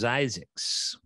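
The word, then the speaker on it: Zzyzx: how to pronounce set you pass is actually pronounced zyx this is spring is beautiful uh is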